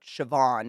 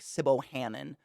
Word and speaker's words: Siobhan: If I spelt out Siobhan, it looks like Sibbo Hannon.